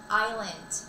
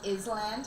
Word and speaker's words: island: Um, many many people think it's is land, right? Because it has an s in it, but the s is silent.